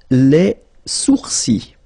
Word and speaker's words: sourcils: Les sourcils. Okay, so it's quite strange because you get this LS at the end, but then, well, you don't pronounce them.